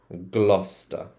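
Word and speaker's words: Gloucester: of these ones so do you see how this one ends in c e s t e r and this was ler so this look at this one c e s t e r same ending so this one's gluster gluster Road gluster Road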